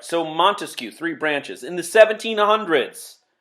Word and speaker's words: Montesquieu: another Enlightenment thinker Montesquieu now Montesquieu remember three syllables three branches of government